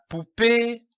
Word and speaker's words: poupée: La poupée a une belle robe. Remarquez l'accent sur le E. C'est un accent aigu. Il se prononce E.